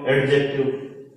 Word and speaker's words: adjective: सबसे पहले तो अपन जो इसको प्रोनाउंस करते हैं वो एडजेक्टिव बोलते हैं इसको, लेकिन इसमें डी साइलेंट होता है तो इसको बोलते हैं अपन एडजेक्टिव, और इसको अपन हिंदी में कहेंगे विशेषण।